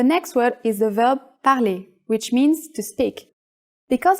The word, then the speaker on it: parlez: It becomes this, but it's pronounced the same way, parler. Est-ce que vous parlez anglais?